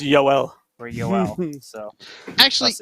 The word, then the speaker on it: Joel: There's gonna be some sort of right pronunciation coming out soon, just like Yoel Armia.